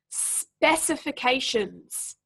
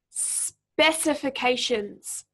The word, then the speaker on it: specifications: is always pronounced shins specifications specifications so yes it's the first syllable again that's emphasized there what about just finally